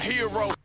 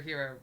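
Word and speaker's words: Herro: heard so many of the tyler hero or tyler harrow as i'm going to pronounce his name because that's how it's spelled right remixes recently so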